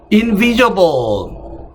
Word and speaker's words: invisible: invisible. 여러분들은 단어 넘버링 꼭 하세요. invisible이 돼서 invisible 역시 이음절에 액센트가 있고요.